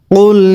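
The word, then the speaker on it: قُلْ: কুল ইয়া আইয়ুহাল কাফিরুন। এবার আমার সাথে পড়ুন। কুল ইয়া আইয়ুহাল কাফিরুন। কুল, এখানে কিন্তু এই কফের উচ্চারণ গলার ভিতরের থেকে চাপ দিয়ে কুল এরকম, কুল এরকম বললে কিন্তু হবে না।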